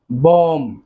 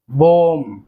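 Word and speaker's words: bomb: সো বোমের শেষে কিন্তু বি রয়েছে, এই বিটির উচ্চারণ কিন্তু হবে না, এই বিটি সাইলেন্ট বি, উচ্চারণ করতে হবে বোম, বোম মানে বোমা।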